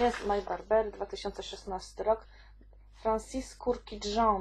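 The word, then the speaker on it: Francis Kurkdjian: My Burberry 2016 rok Francis kurki Joe najprawdopodobniej taka jest wymowa Woody aromatic czyli aromatyczne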